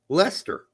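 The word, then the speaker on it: Leicester: okay it's called red Lester cheese and she came up she says is this like Hester that's exactly what she said how do you pronounce is this like Chester is it yeah I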